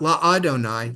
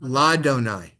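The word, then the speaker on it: לַיהוָה: Not La-Adonai, Ladonai.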